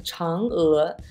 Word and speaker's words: Chang'e: The way you correctly pronounce that word is Chang'e. Chang'e is an important person in Chinese mythological legends.